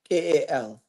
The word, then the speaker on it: Jahkal: So the name is spelled Jackal, just like the name Jackal is spelled.